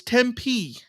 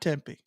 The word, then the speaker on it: Tempe: Then you have to pronounce the name of the city correctly. It's Tempe. Tempe, not Tempe.